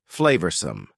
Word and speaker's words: flavorsome: Notice the pronunciation. Two schwah sounds there. Flavorsome.